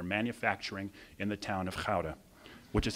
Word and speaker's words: Gouda: pipes that they're manufacturing in the town of powder which is how you pronounce it not Gouda by the cheese by the way go into